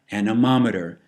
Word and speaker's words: anemometer: is blowing and anemometer and that's how you pronounce it anemometer measures wind speed so the definition anomer a